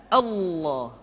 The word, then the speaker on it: Allah: sebelumnya yang ketiga adalah pengucapan lafaz Allah lafaz Allah di manapun kapanpun maka lam yang terdapat pada lafzul jalalah tersebut mesti ditebalkan Allah Rasulullah kecuali kalau lafaz